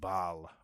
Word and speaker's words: Basel: is called Tower of it's pronounced a bunch of different ways so I'm going to go with the German Way it's called the Tower of Bal or um the Tower of Basel uh in German I don't know it's